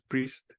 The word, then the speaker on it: Priest: es de graham Priest Priest se pronunciaría en inglés Priest y él es un